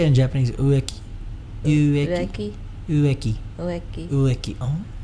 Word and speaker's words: Ueki: Ueki.